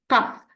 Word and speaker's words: cough: We have the GHF. We say cough. So here the GH pronounced as cough.